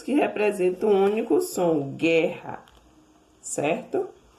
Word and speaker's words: guerra: pronunciado, ó, 2 letras, quando não é pronunciado U, 2 letras e um único som de K, queijo, guerra, ó, o U não é pronunciado, certo?